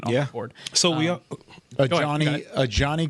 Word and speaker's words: Ajani: Ajani Cornelius is how you say the first name, by the way. Hey, Johnny.